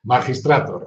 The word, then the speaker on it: Magistrator: ¿Magistrator o magistrator o a la inglesa, a la española? Magistrator, a la española.